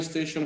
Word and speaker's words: station: ننتبه ان T, I, O, N هذه الأخيرة تنطق شن. Stay with T, I, O, N المقطع الأخير هذا نقراه شن. So نقول train station.